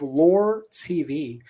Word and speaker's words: LOOR.tv: So you are Yeah. the CEO of Lore TV. Tell us about Lore TV, Marcus. Yeah, so we started Lore. It's spelled LOOR.TV.